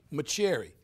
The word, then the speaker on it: Mauceri: My pronunciation would be Mauceri. Mauceri. Like my cherry.